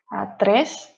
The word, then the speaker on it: tres: four you can see we pronounce tres we pronounce the r very strongly so it's important to roll the tongue when we are doing when we're pronouncing these words um so those are